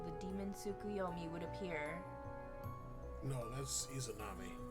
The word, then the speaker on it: Tsukuyomi: Rumors of the Demon Tsukiyomi. Tsukuyomi. Oh, okay. Been pronouncing it wrong.